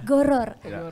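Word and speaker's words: gharar: apa ya masir horor goror Apa itu Ustaz artinya goror ya jangan horor ya horor bukan horor horor film Iya kalau horor film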